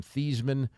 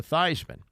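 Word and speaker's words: Theismann: for the Heisman Trophy he changed the pronunciation of his name from thean to Theisman when Tony Dorset was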